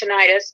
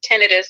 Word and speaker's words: tinnitus: Some of the treatments, there's one treatment where, and people that have tinnitus or tinnitus, I've always pronounced it tinnitus, but it is tinnitus, I guess, which my dad has that.